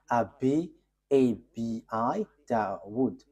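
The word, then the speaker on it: Abu Dawud: Abi da wood.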